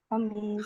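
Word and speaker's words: الخميس: खमीस भी हो गया, यौमुल खमीस, कमीस के वजन पर है, खबीस के वजन पर है, खमीस।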